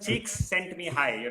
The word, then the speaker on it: Csikszentmihalyi: You can pronounce it. Cheeks sent me high.